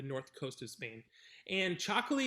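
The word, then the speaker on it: Txakoli: from spain uh it's it is spelled t x a k-o-l-i and they said it's a white wine but what is it similar to yeah so it's it's called chocolate so that's also from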